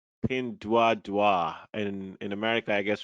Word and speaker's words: Pinduoduo: in the chinese so in chinese it's called pin tua tua pin dua dua and in america i